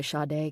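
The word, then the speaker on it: Sade: song Smooth Operator by Shade came on. He had known Chi-Chi for about a year and it finally hit him. That's who she reminded him of. Shade Adu, pronounced Sha.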